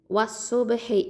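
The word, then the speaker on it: والصبح: இதில் நடுவில் இருக்கக்கூடிய அலிஃப் லாமை உச்சரிக்க மாட்டோம். அதாவது ஹம்சத்துல் வசலையும் லாமையும் உச்சரிக்க மாட்டோம். ஏன்னா சாது இது பாருங்கள் ஹுருஃபு ஷம்சியா.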